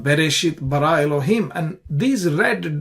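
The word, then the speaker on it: בראשית: So the shit syllable has an accent. Bara, ra syllable has an accent. Elohim, him has an accent. Therefore, you stress on it. You say Bereshit bara Elohim. So that's the stress on the last syllables in all these three cases.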